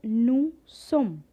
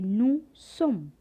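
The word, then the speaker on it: nous sommes: vr we will say nu sum again omit the last alphabet s and say nu sum for a formal u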